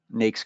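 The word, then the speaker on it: NAICS: uh so I mentioned nakes codes it's nakes like snakes uh I hear this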